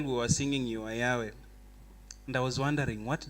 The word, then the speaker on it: Yahweh: If you try to pronounce YHWH, that is exactly. So to make it make sense, in English, they added the vowels A and E so that it's called Yahweh. But it's like you cannot pronounce it.